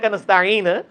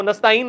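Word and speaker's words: نستعين: रो रहे हैं नास्ताईन वो भी गलत पढ़ते वो नस्ताईन नहीं है नस्ताईन है काबूद वया का नस्ताईन इसका मतलब तो उम्मत को समझाना पड़ रहा है इसकी प्रोनाउंसिएशन भी समझानी पड़ रही है कि यार इसको तो सही पढ़ो वो क्या पढ़ाई गलत पढ़ रहे नस्ताईन में तो आपने अलिफ या हमजा पढ़ दिया।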